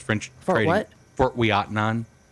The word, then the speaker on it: Ouiatenon: Fort Ouiatenon, and it doesn't look like you'd spell it. It's French, and those French have a word for everything. What? I don't know. Ouiatenon.